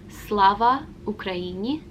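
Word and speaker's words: Слава Україні: how to say it you say slava ukraini and the response to that would be heroium slava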